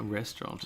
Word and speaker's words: restaurant: a restaurant. Restaurant. What about if we want to be proper fancy? We won't pronounce the last T.